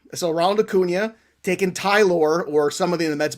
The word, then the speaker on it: Tylor: And his name isn't Tyler, and it's not Taylor. It's Tylor. And it's Tyler McGill, and I know it's Tyler, but it's Tylor.